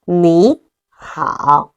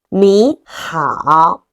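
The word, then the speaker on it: 你好: Third tone plus the third tone. The first one gonna be pronounced as second tone. So we pronounce it as 你好. Follow me. 你好.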